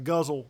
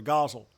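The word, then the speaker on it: ghazal: form which is called a a guzzle with a proper pronunciation or a gazelle as uh the great robert black uh called it so uh but these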